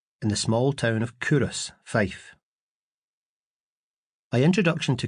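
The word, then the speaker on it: Culross: We'll set out on our journey across Scotland in the small town of Coorous, Fife. My introduction to Coorous, which I've since learned to pronounce Coorous, was on a particularly cold, dreich day.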